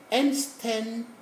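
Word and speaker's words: einsteinium: All words bar 1, bar here means save 1, containing the affix EIN are pronounced as nasal un. So, gendre, peindre, fendre, except 1. We say bar 1. The one here is the item on our periodic table. This is called enstenium. Enstenium on the periodic table.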